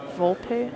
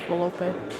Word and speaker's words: Volpe: Volpe? I don't say it like that. It's Volpe.